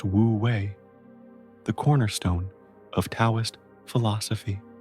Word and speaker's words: Wu Wei: The concept of wooi, pronounced wooi, the cornerstone of tauist philosophy.